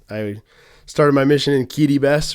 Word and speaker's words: Kiribati: An apostle of the Lord has sent me to Kitty Bess, Kiribati as it's spelt.